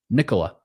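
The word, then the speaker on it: Nikola: It's like Nicholas but without the s sound at the end. Nicola.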